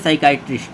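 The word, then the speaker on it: psychiatric: हम क्या बोलते हैं साइकाइट्रिक साइकाइट्रिक साइकाइट्रिक यानी पी साइलेंट है इसमें साइकाइट्रिक दिमाग का डॉक्टर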